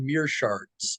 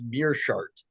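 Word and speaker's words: Meerschaert: be taking on Gerald Mir sharts on March 16th I'm sorry this is did you say sharts what I'm pretty sure it's mirart is how you say it oh my God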